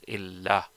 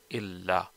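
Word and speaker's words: إلا: Whenever you see this small W on it, on the script or text, in the text on the word, you can identify it as illa, and it has to be read as illa.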